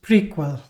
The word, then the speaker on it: PRQL: relational query language and it's pronounced as prequel.